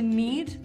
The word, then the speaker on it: knead: I need the bread it's spelled n-e-e-d but it's not the same kind of need no this is need and it starts with a K that's what I said I know it kind of sounds weird right you don't really hear it but it's spelled k-n-e-a-d and today we're going